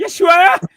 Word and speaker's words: Yeshua: Yashua. Oh, you were saying it almost right. I was almost saying it right. Yeshua.